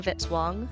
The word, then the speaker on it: Vitzwang: Music by Kevin Vitzwang rhymes with hit song.